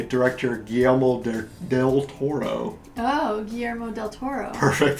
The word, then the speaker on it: Guillermo del Toro: Oh, Guillermo del Toro. Perfect pronunciation.